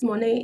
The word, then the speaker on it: Monet: Am I pronouncing your name right? Yes, Monet. You can call me Monet.